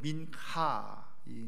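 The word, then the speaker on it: מנחה: 살펴보는데요에 소재는 어 히브리어로 민카이 이제 어 하 발음을 세게 하는 겁니다 그래서 거의 카 발음 나도록 하는 건데 민카 이렇게 하죠 그런데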